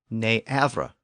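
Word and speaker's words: nǣfre: Never was originally not ever, pronounced ne-avra. And again, it was such a common expression that it eventually evolved into a single word, never.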